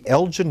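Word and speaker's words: Elgin: original title and the Elgen marbles should they be returned to Greece what is this very quickly about it's actually Elgen it's a hard G he's the the English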